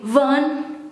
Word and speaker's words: van: from viticu van dorte the v in fun sometimes i pronounce it as fun but and that should be fun yeah but i'm indonesian